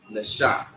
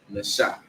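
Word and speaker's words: נשא: Okay, and it's pronounced Nasha. Nasha. All right. So first character obviously being Na. And then you have Sha, which is the next character, okay?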